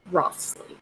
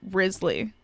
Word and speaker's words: Wriothesley: I keep saying Rothsley, but like I guess the correct pronunciation, because it's a French like Old English name, is Risley, which is really funny to me considering people saying people have Riz.